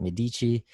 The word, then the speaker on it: Medici: merchants and bankers uh the medici if you're in italy pronounced at medici the medici family was